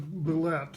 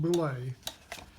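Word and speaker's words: Bulette: Now, the Boule, I always pronounced it Boulette until I heard Tim Chass say it was really pronounced Boule.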